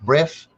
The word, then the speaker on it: Bresse: It's called the French breast chicken. It's spelled BRESSE.